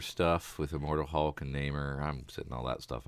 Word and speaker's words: Namor: Defender stuff with Immortal Hulk and Namor. I'm sitting all that stuff out. Did you call him Namor?